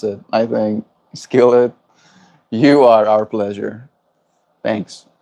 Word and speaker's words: Skillet: That's how you pronounce it, I think. Skillet, you are our pleasure.